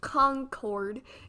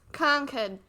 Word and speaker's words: Concord: all of you out of Staters it's not pronounced Concord it's pronounced Concord so we went to Minuteman National Park and